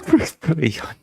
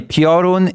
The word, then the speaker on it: Piorun: I'm sorry, Piorun is not a complicated word. Okay, I'm gonna put my foot down. There's no way you should be just twisting the word into a prion.